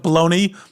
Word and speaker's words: Bologna: Am I pronouncing that correctly? Bologna. It's like bologna, but Bologna.